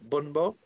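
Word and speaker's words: bún bò: Bun bo?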